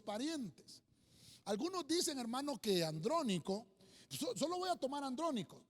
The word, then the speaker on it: Andrónico: enseñanza y de didáctica andrónico lleva acento en la primera y andrónico es un